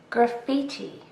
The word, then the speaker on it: graffiti: Graffiti. This word also has 3 syllables and we also stress the second syllable.